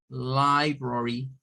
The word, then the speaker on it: library: Esta tendría lo que son prácticamente 3 sílabas, ¿verdad? Serían 3 sílabas. Le voy a quitar esto para no confundirnos, pero quiero dejar claro por qué es que se usa la I al principio. Y es porque es la sílaba tónica.